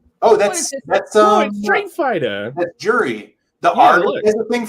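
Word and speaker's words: Juri: Yeah, it's Jury with a J. But I think you could pronounce it Yuri.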